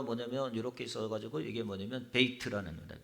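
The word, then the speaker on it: בית: 그 다음에 그 다음에다 있는 단어가 뭐냐면 이렇게 있어가지고 이게 뭐냐면 베이트라는 겁니다. 베트라고 쓰는데 베이트라는 단어입니다.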